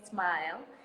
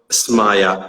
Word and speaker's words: Smayah: properly your name first i know a lot of people just call me whatever they want or they call me smile but my name is maya samaya okay perfect i gotcha